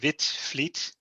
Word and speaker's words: Witvliet: have missed some dx my name is whitfleet and you pronounce that wit fleet and of course you write it completely differently but that's because dutch people are crazy i've been a radio amateur since 1974.